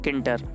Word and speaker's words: Tkinter: इसके बाद हमें एक मॉड्यूल इंस्टॉल करना है जिसका नाम है किंटर। इसकी स्पेलिंग में आता हूँ TKINTER। किंटर नहीं होता है, आप सोचो टी है आगे, वो साइलेंट रहता है इस वजह से।